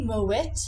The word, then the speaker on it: Moët: the tea is silent normally in French it would be but because this is a Dutch name it isn't there are many people